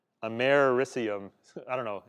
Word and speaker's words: americium: germanium, Germany, and americium is how you pronounce that, americium. So it's americium. I don't know. It doesn't kind of, it's not pronounced the way you might expect it to be.